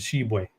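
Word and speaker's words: Tshiebwe: I'm swinging Oscar to sheway sheway Oscar sheway the te is the tea is silent leave off the tea for savings uh but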